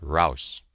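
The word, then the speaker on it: raus: out of the trench Rous is the word they use pronounced Rous this was the first German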